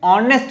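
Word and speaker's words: honest: इसके प्रोनाउंसिएशन में ऑनेस्ट जैसे ही आप बोलते हो तो आपको ओ प्रोनाउंस करना होता है, ओ सुनाई देता है।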